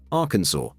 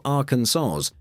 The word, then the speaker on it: Arkansas: the Arkansas code, there's only one correct way to pronounce the state's name, Arkansas, with the final S silent. Say Arkansas or Arkansaws, and technically, you're breaking the law.